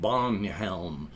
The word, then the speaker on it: Bjornhelm: know, like Bjornhelm, except it would be pronounced like Bonhelm because linguistic drift.